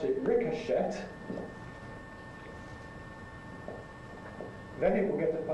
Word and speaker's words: ricochet: Well, I pronounce that verb to ricochet. But there are people who pronounce it ricochet. I've never actually heard that pronunciation, but it's recorded in dictionaries, so maybe it exists.